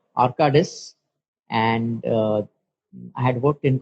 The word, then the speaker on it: Arcadis: pronunciation. I hope it's right. It's Arcadis.